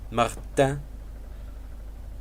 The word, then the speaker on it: Martin: So it's Jean, who is the cleaner guy, and then his brother, I'm gonna pronounce it in the French with the French pronunciation. Martin.